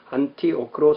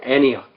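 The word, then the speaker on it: Antioch: 그러나 일반 학문적인 글에서는 통섭을 용이하게 하기 위해서 원어의 발음 최대한 살린 한글 맞춤법 통일안을 따라서 안티오크로 써야 됩니다. 그러니까 이게 성경은 안디옥, 영어는 애니악.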